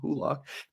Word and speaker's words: Hulock: on the phone, and he will spell it so that I know it's who. We'll type in who dash lock so that he like trains me to pronounce it correctly.